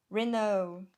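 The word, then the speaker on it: Renoux: Vamos lá no Google de novo, gente. Renault. É francês, né?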